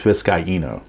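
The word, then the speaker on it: Vizcaíno: Jose I've heard his name pronounced Vizcaino and Vizcaino. I believe it's Vizcaino is the proper pronunciation, but don't quote me on it.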